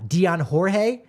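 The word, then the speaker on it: Dyan Jorge: could we see uh Dion Jorge that's the pronunciation Dion Jorge it I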